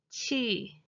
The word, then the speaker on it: 戚: Note that the original pronunciation of the 戚 character is 戚, but it is customarily pronounced as 戚.